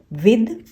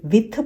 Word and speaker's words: with: विद, इसको मैंने बहुत लोगों को सुना है वो इसे विथ पढ़ते हैं, जबकि ये है विद।